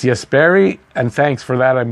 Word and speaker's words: Jesperi: I'm hoping my favorite new Hab, Jesperi, I've been saying it wrong, and my Finnish fans have been telling me that it's Jesperi, and thanks for that.